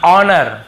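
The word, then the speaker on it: honour: इसे क्या पढ़ते हैं ऑनर ठीक है हनर नहीं पढ़ते हैं एच नहीं पढ़ना है ऑनेस्ट बहुत से लोग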